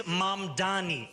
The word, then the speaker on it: Mamdani: And furthermore, the name is Mamdani, Mamdani.